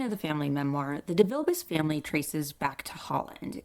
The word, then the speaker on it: DeVilbiss: They were also quite concerned about the name being pronounced Devilbiss as opposed to DeVilbiss.